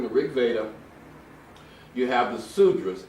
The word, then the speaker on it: sudras: And then according to this account and this is found in the earliest Hindu texts including the Rigveda you have the sudras s u d r a s the con